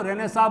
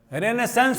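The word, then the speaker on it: Renaissance: Spelling याद रखना आप लोग, इसको रेनेसां बोलते हैं। हालांकि रेनेसेंस होना चाहिए, लेकिन उच्चारण रेनेसां होता है, पुनर्जागरण।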